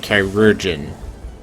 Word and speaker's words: chirurgeon: It's actually pronounced chirurgeon.